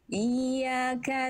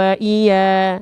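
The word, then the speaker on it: إِيَّاكَ: Lalu wa iyyaka yang kedua, iya-nya nggak ditasydidkan. Jadi tadi pelafalan Bunda begini. Iyyaka na'budu wa iya. Nah, bukan itu ya.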